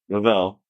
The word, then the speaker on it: Revel: see his name is I thought it Shayon Rall, but it's obviously Savon Rell, right?